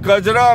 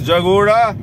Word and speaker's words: Kajra: home naropa's home tiropa's home tilopan lived in kajra mispronounced by tibetans as jagora they say he was either in jagoda or